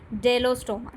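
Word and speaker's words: Bdellostoma: ठीक है, डेलोस्टोमा। ठीक है, बी इज साइलेंट।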